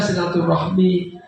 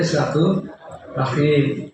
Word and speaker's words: silaturahim: Kalau dalam bahasa Arab enggak ada silaturahmi. Adanya silatur rahim. Tapi kalau dalam konteks bahasa Indonesia itu jadi silaturahmi.